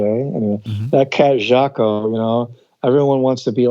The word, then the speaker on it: Jaco: He pronounced the J as a soft J. Anyway, Mm-hmm. that cat Jaco, everyone wants to be